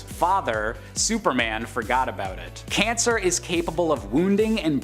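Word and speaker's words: Kancer: the disturbingly gross monstrosity known as cancer but you know spelled with a K because Kryptonite Cancer's origin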